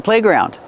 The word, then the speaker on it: playground: do we pronounce playground do we stress both syllables yes it's a compound word so we stress both syllables playground the first vowel is a like say and pay play and in ground